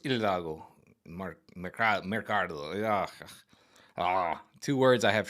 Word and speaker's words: Hidalgo: always want to say Hidalgo, but in Spanish the H is silent, so it's Hidalgo.